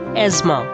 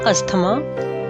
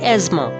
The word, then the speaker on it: asthma: a disease respiratory disease it's called asthma th is silent not asthma asthma this word is most